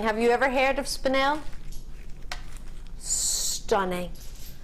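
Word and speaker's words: spinel: you ever heard of spanel stunning spanel is the correct way to say it I've heard many different versions of it but spanel is the way to see it in the crown jewels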